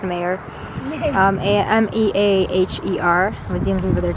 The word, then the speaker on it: Meaher: we really like it I believe it's pronounced mayor a-m-e-a-h-e-r it seems over